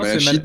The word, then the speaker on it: malachite: Non, on va le prononcer vraiment à la française. La Non, malachite, non, c'est la malachite en français.